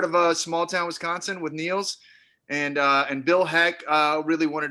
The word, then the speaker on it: Niels: Niels, is it Niles? Niels, how am I saying it right? Niels. Niels. It's Niels. Okay, why don't you go ahead and introduce yourself and your film? Yeah, I'm Niels, and I'm the